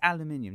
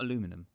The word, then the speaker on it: aluminium: minion that's another one aluminium it aluminium not aluminum you should check out how its spelt also you should check out how you're pronouncing it you'll be amazed at how wrong you're pronouncing it another phrases like I